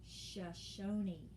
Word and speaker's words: Shoshone: indian tribe known for raising and taming horses shashoni it looks like shoshone but it is pronounced shoshone lists three ways that sacagawea helps